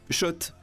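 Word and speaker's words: Schott: Oui, Shot. Et pas Scott, ça fait des années qu'on prononce mal la marque.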